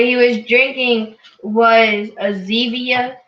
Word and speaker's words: Zevia: What he was drinking was a Zevia. It rhymes with stevia.